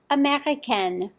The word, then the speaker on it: américain: This E will affect the way you pronounce the different nationalities. Listen to my examples. Sophie est américaine.